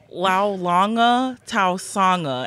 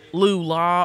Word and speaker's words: Laulauga Tausaga: i love it but it's laulanga taosanga and it's like when i tell people that i'm like you can it rhymes it's smooth it's ready to go laulanga tao sang and they're just like okay and then it's like lula or lao lu and i'm like the first three letters are